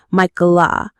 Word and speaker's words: Michaela: To make it sound more feminine, her family and eventually Michael herself started adding an uh sound to the end, effectively pronouncing it Michaela. You might have even seen